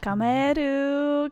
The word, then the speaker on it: Kamaeru: kameru is that how you say it yeah kameru gosh I I'm going to I'm going to